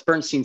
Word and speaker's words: Bernstein: Did I say your name wrong at the beginning? Bernstein. No, it's Bernstein.